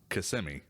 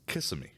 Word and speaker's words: Kissimmee: It's not Kissimmee. It's Kissimmee. Kissimmee. Yep. Yeah. We don't respect any of the pronunciations for the places around here.